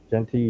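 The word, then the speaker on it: Jeanty: State um I think U jenty am I pronouncing his name yeah right jenty yeah I think he's got play with a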